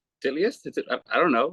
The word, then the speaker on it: Titleist: The shit, bro, it took me forever, like, to learn the proper way of pronouncing Titleist. I was like, Titleist?